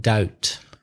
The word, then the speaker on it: doubt: that mean I'm in doubt tengo do de-tangle do de to be in doubt be careful of the spelling of doubt it's do you be T there's a silent B in doubt so I'm in doubts